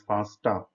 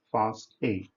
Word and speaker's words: FASTA: Do not pronounce it as FASTA. It is pronounced as FASTA.